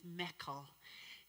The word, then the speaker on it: Michael: one fella told us his name was Meckel, and we discovered that that was the Scottish pronunciation of Michael.